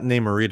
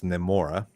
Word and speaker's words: Namora: And then it's not Namorita, it's Namora. Namora.